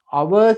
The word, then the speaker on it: hour: hour කියන්නේ පැයට. පැයට අපි කියනවා hour. h එක pronounce කරන්න එපා හොඳේ. hour කියනකොට h එක අපි silent නිශ්ශබ්දයි.